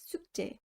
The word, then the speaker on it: 숙제: 숙제 is pronounced as 숙제.